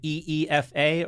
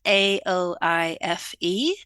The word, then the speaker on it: Aoife: Is it the way is it phonetic? Is it EEFA? Or have you Irish done something crazy to it? We've done our usual. So my name is spelled Aoife. Oh, for God's sake. Wow. No. It's every vowel except you, and it's a lot of work.